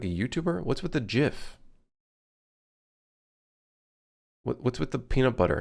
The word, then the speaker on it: GIF: It's GIF. This is GIF. Not GIF. There's a J, not a G.